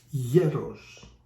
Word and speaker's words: γέρος: on a different letter, if you put it on the O instead of the E, becomes γερός, which means strong, that I'm not.